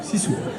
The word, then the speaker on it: sisu: Et donc tu nous parles de cette incroyable âme de la Finlande, ce qu'on appelle le Sisu, ça se prononce Sisu.